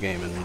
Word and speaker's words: Gaiman: Yeah, I think his name is pronounced Gaiman, but I don't know a whole lot of his works.